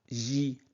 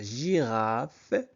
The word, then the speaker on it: girafe: La j G avec I se prononce J. La girafe La girafe mange des feuilles.